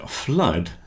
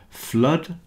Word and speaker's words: flood: as I've just said the word flood rhymes with mud and so does blood flood blood both rhyme with